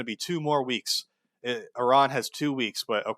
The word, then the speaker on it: Iran: Whatever the Some actually it's pronounced Iran. Let me address that one real quick because I seen some comments like that. It's not Iran. It's Iran and then they adjust